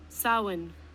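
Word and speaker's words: Samhain: I think it's pronounced seahim. Let me see how it's pronounced again. Salin. Salin. Salin.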